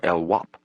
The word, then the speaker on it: LWAP: The needle or lwap. He pronounced the acronym LWP LWAP, knowing that any cop, just as any criminal in the system would know it meant life without parole.